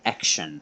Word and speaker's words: Axion: thanks fiat and goat it's pronounced action so yeah action all stars thank you guys for uh reaching to me about this so i can finally pronounce it correctly so it's a action